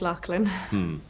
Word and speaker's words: Loughlin: Kate Lachlan. It says Loughlin here, like Loughborough. It's pronounced Lachlan.